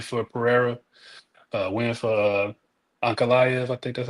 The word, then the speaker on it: Ankalaev: You know, a win for Pereira, a win for Ankalaev, I think that's how you pronounce his name.